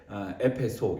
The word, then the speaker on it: 에페소: 오늘 읽은 본문인 에베소서, 에베소 하면 우리가 터키 여행, 요즘은 튀르키예라고 부르지만 어쨌든 그 튀르키예 여행을 갈 때 에페소, 요즘은 보통 그렇게 발음하죠.